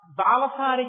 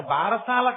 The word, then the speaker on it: బాలసారే: అందుకే ఇప్పటికీ మీరు సంప్రదాయం తెలుసున్న ఇళ్లలో చూడండి, గబగబా చాలా ఏదో బాలసారి చేస్తుంటారు. బారసాల కాదు, బాలసారే. బాలసారే అంటే బాలునకు ఇస్తున్న సారే కానుక. దాన్ని బారసాల భారసాల ఎంత భారమైనా ఎక్కించారు. అసలు దాని ఉచ్చారణ బాలసారే.